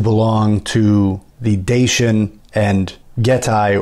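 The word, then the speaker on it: Getae: to the dacian and getai or another pronunciation is getty and I think there are other pronunciations of that name also peoples he wasn't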